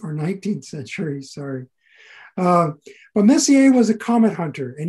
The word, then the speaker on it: Messier: i should define what messier's list is so it's spelled m-e-s-s-i-e-r charles messier french astronomer um from the 1800s